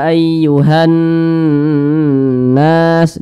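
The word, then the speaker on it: أيها الناس: Bacanya itu 2 hingga 3 ketukan dengungnya. Ya ayyuhan nas. Jadi ditahan dulu. Ayyuhan nas, seperti itu. Jangan dibaca ayyuhan nas, ayyuhan nas, itu kurang tepat. Tapi ditahan dulu suaranya.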